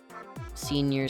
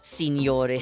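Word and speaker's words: señor: Anyways, senor scuffs. Are you looking for senor with the en senor scuffs with the the n with the the squiggle on top.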